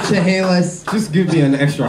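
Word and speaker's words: Chaliss: And how do you say it? Chehalis. But there's no second H. Just, you say Chehalis.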